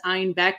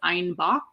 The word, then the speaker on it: Einbeck: When Munich started kind of experimenting with other breweries and other recipes, they mispronounced Einbeck as Einbach, which also means billy goat in German.